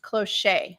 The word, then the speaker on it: cloche: and it is pronounced cloche so we asked why it was named that way and we were told that it is a combination of cloth and touche so like touche is